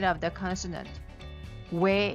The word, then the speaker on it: 왜: 왜 is a combination of O and 에. These sounds you are pronouncing O and 에 together, but with a W sound in front. Sound similar to the 왜 in wet.